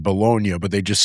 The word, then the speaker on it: Bologna: seems more likely that it is technically pronounced Bolognia, like the city in Italy. I would hope so. Yeah. Anything's better than baloney.